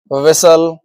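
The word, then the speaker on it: whistle: इसके एग्जांपल्स हैं। देखिए कैसल लिसन विसल इनमें टी आ रहा है। देखिए लेकिन उसका उसकी जो साउंड है वो नहीं आ रही है। है ना? तो यहां पर क्या है? टी साइलेंट हो चुका है।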